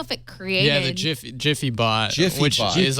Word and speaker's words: Giphy: It's Jiffy, /Jiffy. PHY, right? Yeah. This really And doesn't then help the people dancing.